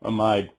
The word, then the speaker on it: amide: long one Pito ethanol amide or amid depending on how you say it but pea is